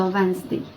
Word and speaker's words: Wednesday: Получається, що ми, коли читаємо це слово при вимові, ми пропускаємо літеру першу D та другу літеру І. І вимовляємо Wednesday. Скорочення до Wednesday є W і D.